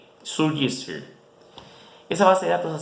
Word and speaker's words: Surgisphere: Esa data, Surgisphere, pueden buscarlo. Se escribe igual que surge, pero con i al final, y Sphere en inglés, S-P-H-E-R-I, Surgisphere.